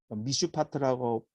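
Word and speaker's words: משפט: 미슈파트라고 발음하기도 하고 미슈파트라고 발음하기도 해요.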